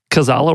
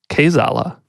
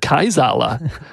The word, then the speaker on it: Kaizala: Word yeah although I think you pronounced Gazala wrong I think it's cos Allah what is it Kai's Allah it depends on who you ask it's magic let's just